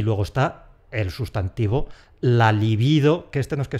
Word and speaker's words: libido: ¡La liBIdo!